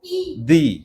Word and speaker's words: the: ভালো করে দেখো, কনসোনেন্ট হলে দা আর ভাওয়েল হলে দি।